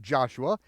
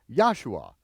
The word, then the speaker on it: Joshua: version of the Bible pronounce it as a y and you'll be very close there are many many